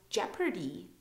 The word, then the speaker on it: Jeopardy: an e p uh Jeopardy Jeopardy there's no indication of O so we don't pronounce it and then we have